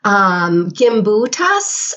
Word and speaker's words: Gimbutas: Gimbutas, I think is how we say her name.